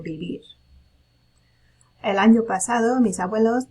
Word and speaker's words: vivir: A note about pronouncing this verb, vivir, it should sound like a B, right? That B and V in Spanish are the same phonetical sound, so vivir.